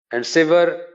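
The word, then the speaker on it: sever: আলহামদুলিল্লাহ সুবহানাল্লাহ কথায় কথায় কিন্তু অন্তরে হিংসা থাকবে সেভার আমরা আসলে সিভিয়ার বলতাম এটা আসলে সেভার হবে উচ্চারণটা এসভির আরেকটা লাগলে সিভিয়ার হবে এই সেভার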